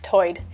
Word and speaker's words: tide: One interesting feature is that Lumbee English speakers share vowel sounds present in the Outer Banks accent, where tide is pronounced toid.